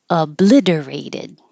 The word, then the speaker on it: obliterated: Obliterated. And the vowel is I, like it, so keep your tongue I, not E.